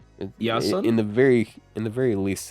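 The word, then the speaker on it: Ἰάσων: Isn't that the Greek pronunciation for Jason? Iason?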